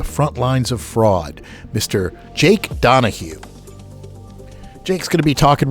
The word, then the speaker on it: Donoghue: It's Jake Donahue. Am I pronouncing your name right?